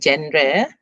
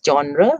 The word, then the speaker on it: genre: the word genre okay this is not pronounced gender it is genre genre means types so i